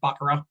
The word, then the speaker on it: Baccarat: noel 2014 and bakara i guess it's pronounced baccarat that's how the casino game is anyway but uh yeah in